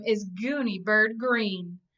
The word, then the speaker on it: Greene: name is goony bird green that's green with a silent e at the end and I just moved